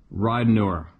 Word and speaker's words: Ridenour: And second name like ride an hour. All right. Hope this helps. Okay, here we go. Tava Ridenour.